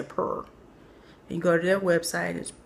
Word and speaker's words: Puur: And it's from a company called Pure, but it's spelled with two U's. So, I'm going to say purr.